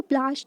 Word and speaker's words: पलाशी: अब यहाँ देखो प्लाश, जो बैटल ऑफ प्लाशी बोला गया है ना, तो प्लासी क्यों बोला, एक पलाश ना, इसका जो प्रोनाउंसिएशन होता है ना पलाशी होता है।